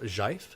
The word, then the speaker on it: GIF: pretty well, probably more than that because I think GIF is more popular. More humanity. But at any rate, no, I'm not. I'm actually. I'm a proponent of Jive. Jive. Is the correct Yeah, pronunciation?